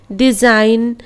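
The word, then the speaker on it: design: डिज़ाइन, align, रिजाइन, इस तरह पढ़ेंगे।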